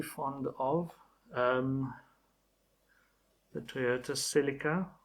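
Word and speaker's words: Celica: of um the Toyota silica I call it the silica um I know people pronounce it cica I'm going to call it the silica you can correct me if you want but I will I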